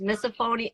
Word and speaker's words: misophonia: Have you ever heard of, it's either pronounced misophonia? I think it's misophonia. Yes. Misophonia.